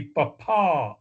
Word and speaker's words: papa: The correct way to say P on the radio with the emphasized syllable underlined would be papa, with the last PA part emphasized.